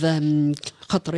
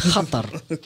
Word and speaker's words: Qatar: They had a partnership with Qatar Airways. Yeah. Shall we say that again? I like how you pronounce it. It's Qatar. I like it. It's not Qatar. Because me, I'm like Qatar. Me, I'm Qatar.